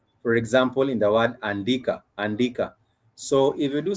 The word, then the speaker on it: andika: So you'd have it, this is the English letter A, but it's pronounced, or the pronunciation in Swahili is a. For example, in the word andika.